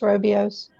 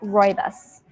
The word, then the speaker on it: rooibos: Was interesting, something I was reading somewhere, your Robios, is it pronounced Robios? It's pronounced rooibos.